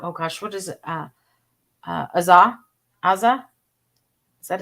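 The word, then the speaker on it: Aza: Azza? Azza? Is that how you Oh, pronounce his name? Asa. Asa.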